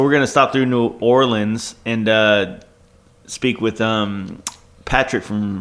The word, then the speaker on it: New Orleans: You got to say it all one word. New Orleans. New Orleans? New Orleans. Okay. That's how they say it down there.